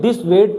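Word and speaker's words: dissuade: दोनों का इसको क्या पढ़ते हैं, दिस वेद पढ़ते हैं। क्या पढ़ते हैं, दिस वेद। जब आप इसकी प्रोनाउंसिएशन देखोगे तो क्या आएगा, दिस वेद, वेद आएगा, यू नहीं आएगा, व आएगा, वह वाला।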